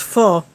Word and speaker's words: pho: bowl of vietnamese food spelled p-h-o but pronounced full at least that's the best i can approximate it oh man did that